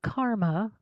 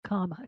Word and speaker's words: kama: So, Nishkama karma means literally work that is without kama, not karma, kama, K-A-M-A.